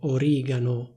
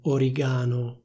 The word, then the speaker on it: origano: Please do be careful: the stress is on the i. In Italian we say /orìgano/, not /origàno/.